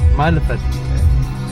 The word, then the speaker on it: Mælefell: Pronunciation is good, man. Yeah? Mælefell.